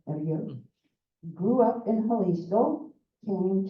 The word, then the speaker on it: Aguirre: acquired, did I pronounce it correctly? Aguirre? Aguirre.